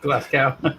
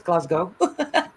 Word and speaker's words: Glasgow: ts are you Bri all around glassow even Tas is not she's not English and even she knows it's Glasgow I like it as